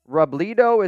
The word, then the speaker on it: Robledo: And I see John Rodriguez right now is saying Mitch Robledo is pronounced Robledo. Robledo. Doesn't mean I'm going to get it right.